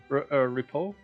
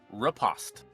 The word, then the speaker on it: riposte: Repo? I don't know what the right way to pronounce that word is. Sorry? Riposte. Riposte? Okay. Is like how it's spelled then.